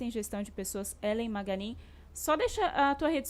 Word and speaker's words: Magagnin: E o Maganin é Maganin, o G é mudo.